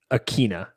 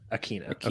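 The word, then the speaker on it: Ikhine: westbrook akine and i'm trying to find this pronunciation here um here we go that's how i always hear it on red zone and stuff akina akina yeah oh yeah um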